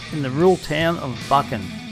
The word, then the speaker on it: Buchan: We start this trip in the rural town of Buckan. Funnily pronounced, this town is actually called Buckan, some call it Buchan.